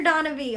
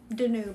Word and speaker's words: Danube: glad you like your donnaby or danube danube i should say sorry i always say donna because that's how it's spelled but i know it's the danube i'm glad you like